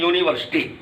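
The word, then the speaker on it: university: यू के अंतर्गत है, किंतु जब इसका हम प्रोनाउंसिएशन करते हैं तो यह व्यंजन अक्षर से होता है यूनी, तो इसलिए यहां एन का यूज रॉन्ग है, यहां होगा अ यूनिवर्सिटी।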